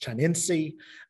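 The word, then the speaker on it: chinense: if I remember correctly it's pronounced Chinese it almost makes us think of China perhaps it may be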